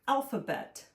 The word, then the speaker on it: alphabet: M U S I C A L L musical and then the word alphabet. A L P ph what? Sometimes ph makes the f sound.